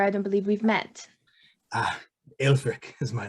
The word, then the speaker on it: Aelfric: Aelfric is my name. How do you spell that, Will? How do you spell that? Aelfric. R-I-C. Aelfric.